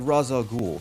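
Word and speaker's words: Ra's al Ghul: Whether they were high in spectacle or really creative like Raza Ghoul, I'm not pronouncing it ra because it sounds stupid.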